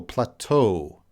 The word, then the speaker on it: plateau: how to pronounce plateau plateau that's I believe from our French that's loanword from French language plateau because it has a French pronunciation plateau let's see the origin